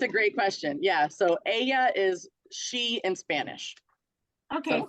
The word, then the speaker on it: ella: that would be that's the she pronoun in Spanish is Aya so that Double L is pronounced as an as a why that makes total sense